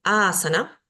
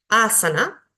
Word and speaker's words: asana: vocal larga por ejemplo en este caso tengo asana tres sílabas en la última no puedo poner un acento en la anterior recaería el acento pero no tiene una bocal larga y como tengo una anterior con vocal larga Entonces el acento va a ir ahí supongamos que tengo